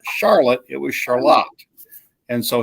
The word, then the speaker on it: Charlotte: I love how you pronounce that, by the way. Charlotte? Is that how y'all say it? Yep, it's not Charlotte. Our little town is called Charlotte.